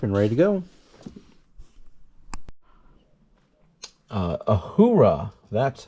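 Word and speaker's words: Uhura: this package up and ready to go uh ahura that's how you pronounce it um but yeah I am a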